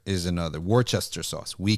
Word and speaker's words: Worcester: have an event in Birmingham okay all right War Caster is another War Chester sauce we call it War Chester sauce it